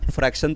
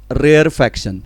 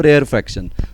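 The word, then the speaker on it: rarefaction: हाँ, बहुत से स्टूडेंट गलती से इसको फ्रैक्शन लिख देते हैं या फ्रैक्शन प्रोनाउंस करते हैं, तो ये वैसा नहीं है। वन is called edge compression, another is called as रेयरफैक्शन, ठीक है।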